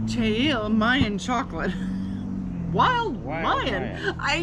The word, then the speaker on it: Che'il: Che'il? Che'il. Che'il. Che'il, which we just found out was wild Mayan, right? Che'il Mayan Chocolate.